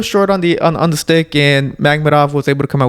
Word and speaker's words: Makhmudov: had Dave Allen take on how do you pronounce his last name? Makhmudov. Yeah. I'm gonna say that, Makhmudov.